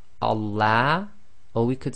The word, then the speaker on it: Allah: say Allah okay so be very careful it's Allah and that's the effect of having the sound of fata before the lamb of Allah okay now we'll talk